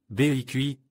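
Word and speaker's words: 北汽: L'orthographe se prononce comme BEIQI, sans BEC.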